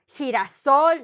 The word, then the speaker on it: girasol: So we have that the he with the E and the he with the I, to make the G, it needs a U, right? It needs somebody in between, right? Otherwise, it would be he.